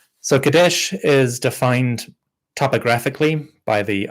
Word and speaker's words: Kadesh: So Kadesh is how we would generally pronounce it in Egyptological pronunciation. For the Hittites called it Kinza, but the Egyptians seem to have called it Kadesh or Kidshu, something like that. But somehow that's transformed into Kadesh over time.